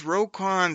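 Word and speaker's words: Roquan: you on the show to say it with a little respect it's rocon Smith over there on defense for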